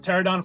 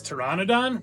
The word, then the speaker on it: Pteranodon: up next we have pterodon Flyers at Islands of Adventure I'm seeing now how pterodon is spelled and should I just should I be pronouncing this Pteranodon no right no one's